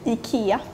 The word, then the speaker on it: ICA: say it again Ika so we pronounce the I very strongly EA sometimes like in